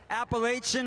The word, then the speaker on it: Appalachian: All right, we'll definitely check out Appalachian Harley-Davidson.